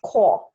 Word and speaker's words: Corps: the civilian conservation corps it's pronounced core as if there's no ps3 civilian conservation core or the c c